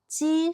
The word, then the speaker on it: 几: jī shì yī gè duō yīn zì 几是一个多音字 The character "jī" has more than one pronunciation zài zhèlǐ dú yī shēng 在这里读一声 Here it's pronounced with the first tone yìsi shì xiǎo de